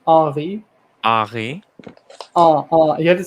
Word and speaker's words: Henri: No, it's Henri. You don't pronounce the H. It's just Henri.